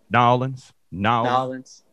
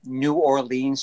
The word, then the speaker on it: New Orleans: Nolans. I say Nolans. Sometimes I really just like say New Orleans just to really dig into people, you know.